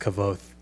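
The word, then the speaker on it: Kvothe: He goes, "It's pronounced Kavoth."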